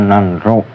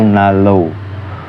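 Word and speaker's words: 난로: lagi yaitu nan l nanro tulisannya nanro tapi dibaca itu Nalo yang artinya itu penghangat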